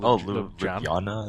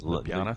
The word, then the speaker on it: Ljubljana: I don't even know how to pronounce it. Ljubljana. Ljubljana.